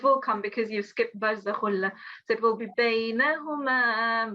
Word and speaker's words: برزخ لا: مرج البحرين يلتقيان بينهما برزخ لا It's khulla, so it's barzakhulla.